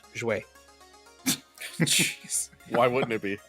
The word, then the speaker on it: jouaient: It ends in again AIENT, and it's pronounced jouer.